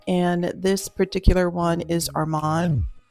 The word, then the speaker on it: Amande: I used NARS, and this particular one is Armand. It's pronounced Amande.